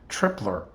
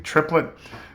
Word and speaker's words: Triplett: Also, my apology to Donald Triplett. I believe I pronounced your name Tripler last time, which is the name of a military base on the West Coast. I believe the name is actually Triplett, and Donald Triplett is